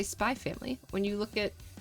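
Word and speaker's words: Spy × Family: We don't we don't pronounce the X. It's like when you look at spy family, you don't say spy X family, just say spy family.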